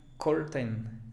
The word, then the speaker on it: curtain: El estudiante básico trata de pronunciar todas las vocales. Bueno, si dice aquí curtain, entonces trata de decir curtain, curtain, curtain. No es así. Es simplemente fíjate, o sea, el sonido de aquí, cur, y luego una schwa, curtain, curtain.